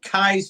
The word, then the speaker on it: Keyes: Now, I've heard it now pronounced Keys Peak. I've heard it announced Kai's Peak. I'm going to stick with Keys because, well, that seems to work out pretty well.